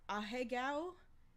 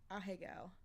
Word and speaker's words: ahegao: pronunciation listed, but I'm pretty sure this is pronounced ahegao. It's spelled ahegao. Ahegao.